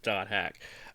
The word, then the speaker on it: .hack: right where the doted it says do hack so you're supposed to pronounce it do hack uh anyway let's get